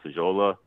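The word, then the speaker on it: Faggiolo: guy Alfonso I believe he's pronounced fajola it's like f-a-g-g-i-o-l-o so uh he's another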